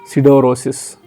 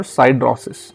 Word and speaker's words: siderosis: Exposure to iron dust leads to lung generation disease called siderosis or sidrosis. I'll spell it Siderosis.